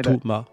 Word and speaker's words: Thomas: Et, c'est vraiment de moi, j'ai deux syllabes, Thomas. À la rigueur, Romy, ce serait plus Lomi avec un L plutôt que. C'est ça. Ça ressemble plus comme ça. Alors que Thomas, moi, c'est vraiment T-O-M-A en fait.